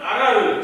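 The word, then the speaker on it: ארר: 사울은 먹으면 아라르 저주가 있을 것이라고 했는데 정작 요나단은 그 꿀을 먹자 오르 눈이 밝아졌다고 했습니다.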